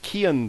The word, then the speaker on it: Keon: he did tell me the proper way to pronounce it it's similar to if you would say kir nightly it's Kean Blair uh versus vitamin yes